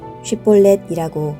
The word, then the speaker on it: 쉿볼렛: 그러면 쉿볼렛이라고 말해보아라 하고 그들은 요구했다. 그러나 만일 그가 십볼렛이라고 잘못 발음하면 그를 잡아 요단 나루터에서 죽였다.